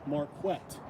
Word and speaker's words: Marquett: For example, my name is pronounced Marquett.